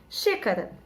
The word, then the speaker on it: xícara: tem som de z o x com som de ch né por exemplo xícara chega né se escreve